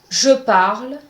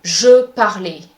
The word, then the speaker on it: je parle: Do not pronounce the E at the end of a word. For example, je parle, dame, livre. For the first one, je parle, you cannot say je parlais. This is incorrect. The E at the end of these words is silent. So just read the words as if the E at the end does not exist.